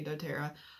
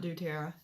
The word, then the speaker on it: doTERRA: I'm also one for doTERRA so be sure to read my address okay so I might not unbox every month for what comes in my doTERRA box supposed to say doTERRA not doTERRA anyways um I went